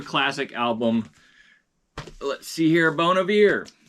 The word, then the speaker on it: Bon Iver: Let's see here, Bon Iver, or if you're mispronouncing it, Bon Iver, it's Bon Iver.